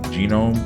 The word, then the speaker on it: GNOME: Now, I wouldn't recommend it because the desktop version comes with um what's called Genome or Gnome, however you want to pronounce it.